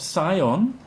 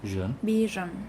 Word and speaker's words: vision: vision vision vision vision how do you pronounce the second syllable vision exactly like with us trap yes it's not Sion its vision a vision vision the